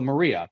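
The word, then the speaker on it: Marija: I meant like one of our co-workers name is spelled m a r i a right so Maria but it's not that's how you say it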